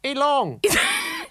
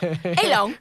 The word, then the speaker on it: Elon: my Aussie twang elong you're adding a g at the end but that's fine how do you say it Elon you have to put effort in okay all right don't put the effort in on the on the hard end yeah okay okay Elon